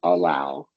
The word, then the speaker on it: allow: We're stressing that second syllable.